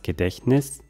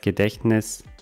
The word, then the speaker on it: Gedächtnis: 3 s fitness studio gedächtnis das gedächtnis des t hat man hier kaum das gedächtnis von der aussprache her wie gesagt mit einem